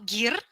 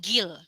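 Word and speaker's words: 길: Jadi bukan lagi dibacanya di sini ada mar atau gir, tapi justru dibacanya jadi mal dan gil.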